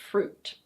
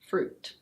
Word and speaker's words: fruit: This word is: fruit. Fruit. It's not "fru-it". It's just: fruit.